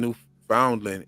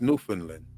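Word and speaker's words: Newfoundland: I keep saying and I keep saying New Foundland it's New Finland yeah sorry it is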